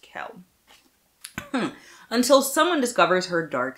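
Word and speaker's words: Quell: I know from the a a book it's pronounced Kell until someone discovers her dark secret to hide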